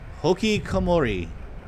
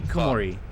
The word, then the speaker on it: hikikomori: This is absolutely Hikikomori. Hikikomori. Ratchet is correcting him to Hikikomori.